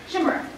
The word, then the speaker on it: chimera: Chimera. Actually, it's pronounced chimera.